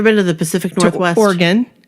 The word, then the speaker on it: Oregon: to the Pacific Northwest organ I said it right not Oregon right christine has gorgoni Oregon